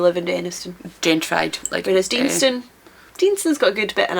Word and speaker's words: Deanston: Oh, I've heard Deanston, our local one, pronounced as Denniston. That's a very different place. Very different place, Denniston and Deanston.